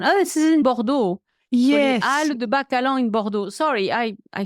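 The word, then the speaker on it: Halles de Bacalan: or b a c a l a n Al de Balon ah okay so this is in the town oh this is in bordeau al de Balon in bordo sorry I I should have recognized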